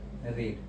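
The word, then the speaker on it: read: रीड। रीड, अब क्या पड़ेगा अभी? ये थर्ड फॉर्म है, रीड रेड रेड, फॉर्म एक ही होता है, प्रोनाउंसिएशन अलग होता है, स्पेलिंग सेम होती है।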